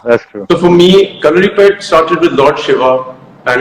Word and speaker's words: Kalaripayattu: So, Kalripet, Ritik, I'm so proud of the fact that you said the name correctly, because in India I don't Thank you.